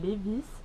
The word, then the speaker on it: Lévis: une ville qui s'appelle lévis je vois que ça se prononce comme ça où les vies bref et c'est juste